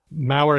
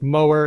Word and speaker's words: Mower: is different from Growler Minnesota's Mau County which rhymes with power not Mower and so on so